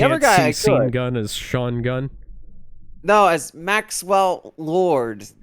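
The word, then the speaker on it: Sean: The other guy seen gun as Shaun Gun. No, as Maxwell Lord. Jesus. His name is Sha Gun. It's pronounced Shaun.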